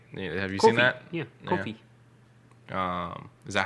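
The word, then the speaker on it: Ko-fi: Yeah, Kofi.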